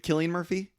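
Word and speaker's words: Cillian Murphy: and like oh my God Killian Murphy um that's how you say his name um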